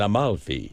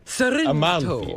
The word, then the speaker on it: Amalfi: And your favorite hotel was in Amalfi. Yes. So you were there. We were there too. Is there an extra L in there? Al Maui? Yeah. Amalfi. Amalfi.